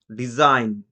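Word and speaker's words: design: যদি ওয়ার্ডের শেষে আইজিএন থাকে তার উচ্চারণ সাউন্ড আইন হয়। এই ক্ষেত্রে জি সাইলেন্ট থাকে। Example, ডিজাইন, ডিইএস আইজিএন।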